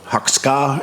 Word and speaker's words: Hakosuka: would probably know about the hakusuka or huxkar if you want to pronounce it correctly or maybe not the